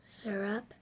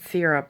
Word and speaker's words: syrup: what you said earlier how do you say it sir up nice a syrup to you said seer up earlier oh I don't know